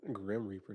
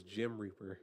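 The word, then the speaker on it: Gemreaper: Grim Reaper. Nah, it's Gem Reaper. Hey, if you're gonna say it, you better say it right.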